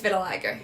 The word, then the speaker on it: vitiligo: And then, I'm going to butcher the word, but people with vitiligo? How do you say that? It's vitiligo.